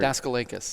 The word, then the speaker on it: Daskalakis: We already Because I want to get it right for Daskalakis. Daskalakis. It's a hard A.